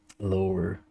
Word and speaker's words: lore: I also say lore like it's a two-syllable word when it's not. Lore.